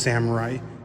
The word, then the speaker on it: samurai: a big Sam armor actually it's pronounced Samurai it's Japanese sure that's not Hero's